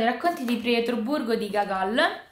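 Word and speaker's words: Гоголь: di Pietroburgo di gagol pronuncio con la A perché da quanto mi è stato spiegato nel libro di Paolo onori se ci sono due o la prima si legge a quindi è dasto Ski è tsto e gagle quindi spero di averlo pronunciato nel modo corretto comunque gacol È uno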